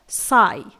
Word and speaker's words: sigh: यहां पर देखिए हाई में GH साइलेंट रहता है। इसके बाद है साई, SIGH।